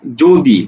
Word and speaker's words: যদি: যদি আমাদের অন্তস্থ জ থাকে, যেমন শব্দ লিখলাম যদি, তাহলে এই যদি উচ্চারণটা কিভাবে লিখবো? জ করে জো, দরে শিকারে দি, যদি।